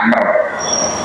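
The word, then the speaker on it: عمرو: Kalau ada wawunya bacanya Amr. Kalau tidak ada wawu bacanya Umar.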